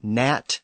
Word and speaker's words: gnat: And words like gnat and gnaw have a G that was once pronounced at the front, but it's also disappeared. And the guttural H sound and palatal H sound have largely disappeared.